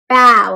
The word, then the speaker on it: bao: bow like bowing down not like bow like a bow that you wear right it's bow like you're bowing my friends can you